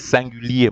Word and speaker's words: singulier: So in French now, I think you know how to say masculin singulier. It is singulier, masculin singulier.